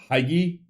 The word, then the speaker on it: hygge: I don't know what Hygge, Hygge. No idea. Oh, CD says he heard it on the Simpsons first. Hygge, because that's one I don't know. Danish word pronounced hygge, meaning social coziness.